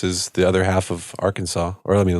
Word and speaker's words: Arkansas: Why do you say Arkansas like that? It's I always thought it was Arkansas. No, it's Arkansas. It's Arkansas. That's how you pronounce it.